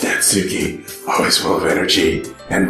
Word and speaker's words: Natsuki: It's pronounced Natsuki.